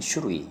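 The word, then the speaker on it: 種類: 이게 짧다 그랬죠. 발음이 슈루이. 슈루이.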